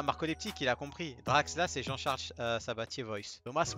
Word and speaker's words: Draxler: Déjà, on dit Draxla.